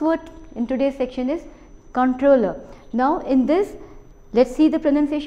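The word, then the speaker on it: comptroller: in today's section is controller now in this let's see the pronunciation the p is silent over here so you need not bother about the P part it is controller now controller says that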